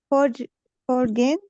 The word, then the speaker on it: foreign: Have you ever lived in a foreign country? Foreign. The G is silent.